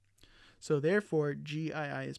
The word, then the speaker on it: gii: again just to reinforce the prefix gii is not is not pronounced j e g like the word gene so how do we